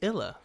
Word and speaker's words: Illa: say your last name it's illa illa illa i-l-a perfect because on Facebook it looks like llla I had a I